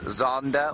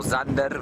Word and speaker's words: Xander: He is known as Zander or Zander by his family. That's spelled Xander. Now, if you were to just pronounce that in the sort of Zulu way, it would be Kanda.